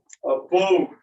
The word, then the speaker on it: abode: Abode. Notice that it's spelled with an A, but we would transcribe it with that upside down E that sounds like abode. It's not like we're saying abode or abode.